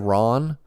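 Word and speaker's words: Rahn: Morgan katarn the Jedi Ron I think if Ron would show up and Maybe by my pronunciation you don't know how that's spelled it's spelled r-a-h-n I pronounce it Ron I I assume that's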